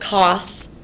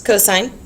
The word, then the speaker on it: cosine: It's not pronounced sin, it's sine. We're not committing a crime here. This is cosine, not cos, it's cosine.